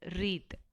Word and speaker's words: wreath: You have to pronounce this as wreath. W is silent here.